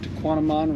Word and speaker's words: Tahquamenon: I said it right to Quantum on rhymes with phenomenon and they have and